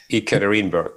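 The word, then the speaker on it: Yekaterinburg: Six years as the head coach with Ekitarannab. I hope I pronounced that correctly. Ikatarinberg.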